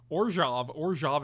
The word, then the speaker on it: Orzhov: Orzhov is how it's pronounced, though.